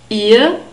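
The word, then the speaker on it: ihr: via via and the word for you is here but this is a familiar form but this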